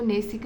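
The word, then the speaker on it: gneissic: और ये इसको नेसिक बोलते हैं, नेसिक रॉक्स भी यहाँ पे बुंदेलखंड पे मिलते हैं, जी साइलेंट होता है, ठीक है इसका।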